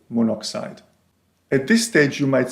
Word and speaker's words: monoxide: Rather than monooxide, we say monoxide.